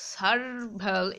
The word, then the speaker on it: servile: মানে কি বলতো, মানে সার্ভাল, SERVILE, ঠিক আছে, এই উচ্চারণটা হচ্ছে সার্ভাল।